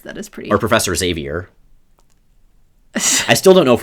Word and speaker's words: Xavier: so I pronounce it Xavier because that's the way it's pronounced in all of the audio based versions so it's it's the